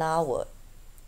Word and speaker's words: hour: and is also used when there is a silent H such as an hour but that latter H